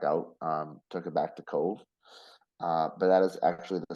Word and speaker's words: Cobh: So we went to Cove, spelled Cobh, and it pronounced Cove, Mm-hmm.